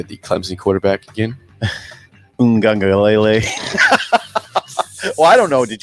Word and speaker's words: Uiagalelei: Uiagalelei. Well, I don't know. Did you pronounce it right?